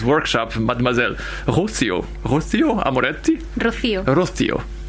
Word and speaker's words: Rocío: Rocío.